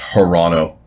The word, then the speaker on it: Toronto: and can fixable yeah Toronto the Toronto silent T the Houston there their